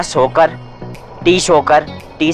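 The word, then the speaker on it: Tso Kar: जहां पर रुके थे जगह का नाम है सोकर 30 होकर 30 साइलेंट होता है टीम बोलते हैं सॉरी बोलते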